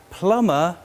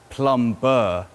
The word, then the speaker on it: plumber: repairs pipes a plumber but remember we have to swallow the bee it's a silent b so we say plummer not plum burr plummer scene and then